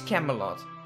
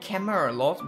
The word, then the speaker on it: Camelot: came off Camelot yeah it is Camelot Camelot it's not camera a lot value I've been mispronouncing it we can also build